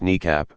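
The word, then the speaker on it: NEACP: The E-4 fleet was originally deployed in 1974, when it was termed National Emergency Airborne Command Post, NEAP, often pronounced NECAP.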